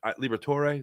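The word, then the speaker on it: Liberatore: I always say his name wrong. It's Liber Liberator. Liberator.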